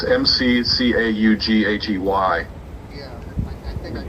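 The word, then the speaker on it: McCaughey: Is that how you pronounce his name, McCoy? I think so. It's McCaughy.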